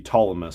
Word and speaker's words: Ptolemy: then a Teller Knight Ptolemy. That's very cool as well. I know I'm not supposed to pronounce the P. Ptolemy.